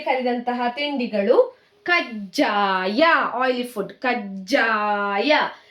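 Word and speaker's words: ಕಜ್ಜಾಯ: Ja under that ja consonant. Kajjaya. See, the consonants never changing. See here. All ja consonant only. Gunitakshara only changing. So you have to pronounce like Gunitakshara hardly. Kajjaya, like that.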